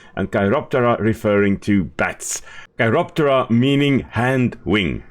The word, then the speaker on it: Chiroptera: Chiroptera meaning hand wing. Chiro from hand and ptera with a silent P, of course referring to wing.